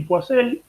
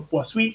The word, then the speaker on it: Poiseuille: Y ya habíamos visto la clase pasada el ejemplo de flujos Couette y Poiseuille, o Poiseuille se pronuncia en francés, estamos con Poiseuille argentinizado.